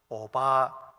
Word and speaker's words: 오바댜: 발음하기가 좀 어려워요. 오바댜, 오바다도 아니고 댜.